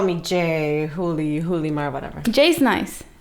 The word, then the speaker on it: Julimar: How do you want me to say pronounce it? Julimar.